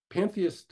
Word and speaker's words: panentheist: I am a pan-en-theist. There's one additional syllable in there, an en, between pan and theist, panentheism.